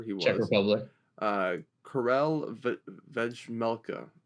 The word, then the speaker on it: Vejmelka: Karel Vejmelka. Vejmelka, yeah. Man, the J is silent.